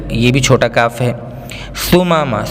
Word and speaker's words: ثمامہ: ثمامہ ثمامہ میں سا ہے, الف با تا سا, ثمامہ.